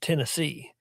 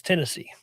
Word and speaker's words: Tennessee: west, it's it's pronounced Tennessee. If you're from like central east, especially up in the mountains is Tennessee. Like you would say Hennessy, Knoxville.